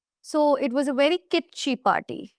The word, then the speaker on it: kitschy: So the word is kitschy, and that's how you pronounce it.